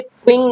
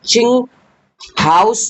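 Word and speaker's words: Qinghao: इसका जो नाम है इसे क्यू यू आई एन जी लिखा है पर इसे क्विंग ना पढ़ के चिंग हाउस बोलते हैं ठीक है ये चाइना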